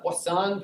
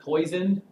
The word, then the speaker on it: Poisson: 5.3 talks about the Poisson distributions and it is Poisson not poisoned so say it in a French newbie tone of voice and you will say it correctly what song I teach